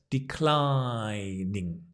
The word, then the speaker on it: declining: I'm in declining Health watch the stress declining I'm in declining Health